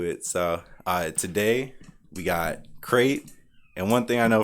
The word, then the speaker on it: Crate: So today we got Crate. And one thing I know for sure is crate rhymes with great.